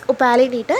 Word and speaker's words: Opalinata: Pronunciation is Opalinata, and this is the correct one.